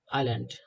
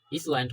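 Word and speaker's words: island: করে আইল্যান্ড শিক্ষার্থীরা দেখো এখানে তোমরা যদি একটু বানান করো আই এস এল এ এন ডি ইসল্যান্ড হয় কিন্তু এটাকে আমরা ইসল্যান্ড বলবো না এটাকে আইল্যান্ড বলবো কারণ এখানে এস সাইলেন্ট আছে ওকে তাহলে এই সেন্টেন্সটির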